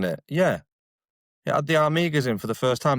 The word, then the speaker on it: Armigers: Yeah, it had the Armigas in for the first time before they went sale separately as well. The Knight Armigas, you know, like the little boys. Mate, we pronounce it Armigers here.